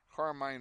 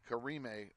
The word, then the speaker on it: Karime: We'll have our subs now, and Sawyer Ross will come in for Northwest, and Carmine Rueda, sorry, not Carmine, Karime Rueda, misread that.